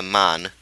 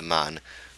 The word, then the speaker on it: Mun: shoot straight for the Mun. Well, that actually pronunciation differs. Some people say it with the umlaut thing, and some people don't. If it is with the umlaut, it's like the Moon.